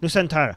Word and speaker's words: Nusantara: times like that yeah go ahead and nusantara nusantara yes thank you so much for your super